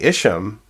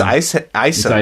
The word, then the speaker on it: Isham: I've been saying Isham. No, it's Isam. It's Isam.